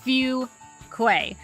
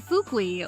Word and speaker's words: Fuquay: lot in the video it is pronounced few Quay um no one ever